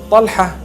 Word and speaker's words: Talha: Talha is the proper pronunciation.